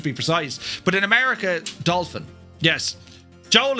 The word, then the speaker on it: Dauphin: So, you have a doe fan or you have a dolphin? It's a doofan.